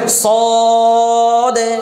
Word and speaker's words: صاد: না সদ যে বলতাম এজন্য সদ হবে না ضد হবে না কেমন উচ্চারণটা কি হবে صاد صاد صاد ضد ضد صاد صاد ضد